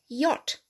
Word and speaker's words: yacht: which okay good so the only word in english language where the ch is not pronounced at all is yacht okay i've got a